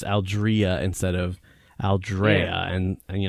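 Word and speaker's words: Aldrea: the hork Padilla Chronicles her name is pronounced Algeria yeah yeah that was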